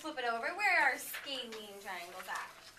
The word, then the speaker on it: scalene: Let's do the first part. Scale. Scaling. Scalene. What's our definition of scalene? No sides are the same length. Let's flip it over. Where are scalene triangles at?